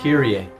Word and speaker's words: Kyrie: Kyrie. Not Kiri.